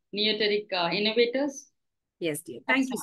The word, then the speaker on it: Neoteric: Yeah, it is Neoteric. Neoteric Innovators.